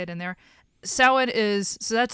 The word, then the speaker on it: Samhain: And essentially the masks are going to kill the children, which is a massive child sacrifice on the Druid holiday of Samhain.